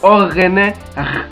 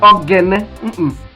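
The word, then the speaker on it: Oghene: The other one there is orene. You can hear the sound. Yes, that's how it is pronounced. Orene. Orene. It is not orgene. There's no word in Urhobo like orgene. It is orene.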